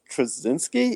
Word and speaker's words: Straczynski: Michael Straczynski is how you pronounce it.